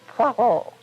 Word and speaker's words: Poirot: Albert Finney is wonderful as Detective Hercule Poirot. Notice my French pronunciation there.